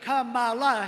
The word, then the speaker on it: Kamala: executive assistant said you better make sure you pronounce it right I hope she's not watching now you see Kamala Harris does not insult people that disagree with